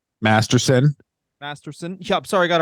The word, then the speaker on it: Masterson: mouth yeah really all right munes okay Danny masterton Masterson Masterson yeah sorry I got a rapist name wrong thank you that's very important sorry about